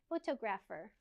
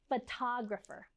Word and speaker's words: photographer: They always say photographer, but it's actually pronounced photographer.